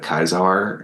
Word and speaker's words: Caesar: because I mean it's sort of like saying Caesar instead of kaisar and it's like well if you say kaisar you kind of sound you know you're trying a little too hard to pronounce it like Latin nerd stop trying so hard